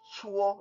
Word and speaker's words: 搓: It's pronounced 搓 like CHWO.